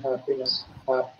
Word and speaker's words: happiness: The first syllable should be stress and happiness.